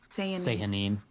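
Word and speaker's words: Sehanine: Elixion / the Apotheon, and then Moonweaver / Changebringer for Avandra, and I can't pronounce the S name. Sahanine? Sahanine.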